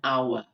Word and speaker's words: hour: use use an an hour an honest man those are all um silent sounds and even though it's spelled with a consonant the sound that you hear is a vowel sound right so I'm going